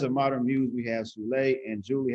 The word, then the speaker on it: Zulay: It's Zulay, like July, yeah.